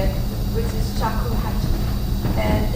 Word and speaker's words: shakuhachi: All right, so I'll just pronounce the name of my shakuhachi the way we say it, which is shakuhachi.